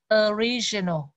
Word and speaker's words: original: Mình nhớ là chữ O, mà khi mà không có dấu trọng ấm đó, nó là thì nó không đọc O mà nó đọc là mắm ơ. Và chữ mà được nhận trọng ấm là chữ ri, cho nên mình đọc là original.